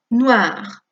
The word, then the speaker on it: noir: Porque aunque el masculino acabe en R, que es una consonante, recordemos que las consonantes finales no suenan excepto Rafaela Carrà, ¿nos acordamos? R, F, L, C. Esas consonantes finales sí van a sonar. Por lo tanto, noir, aquí en femenino añadimos la E, pero suena igual porque la E final no suena sin acento, noir.